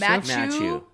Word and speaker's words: Mathieu: Mathieu? Yeah. Yeah, just with a just a little bit of a French flair on the first name. out the lips. Mathieu.